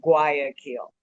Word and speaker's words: Guayaquil: or to say it phonetically, Guayaquil.